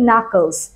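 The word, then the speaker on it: knuckles: বলতে পারি আঙ্গুলের গাঠ এগুলোকে কিন্তু আমরা বলি নাকলস সো ক্র্যাকিং নাকলস মানে কি আঙ্গুল ফোটানো এই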